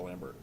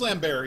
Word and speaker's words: Lambert: grizzled cop is Christopher Lambert. I think he could. You think he? It's really? It's pronounced Lambert. Is it? Is It's it really? Chris Lambert. Yeah, he's French.